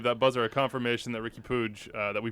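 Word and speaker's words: Riqui Puig: confirmation i believe that buzzer a confirmation that ricky pooge that we pronounced his name correctly i didn't see a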